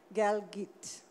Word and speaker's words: Galgut: being and who's written the promise uh Damon galit his name is spelled galut but it's pronounced galit um and he he won the the booker